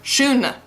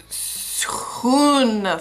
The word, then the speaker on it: schoon: It comes out shoon shoon family, but that's not correct. It's Schoon familie That's that's how I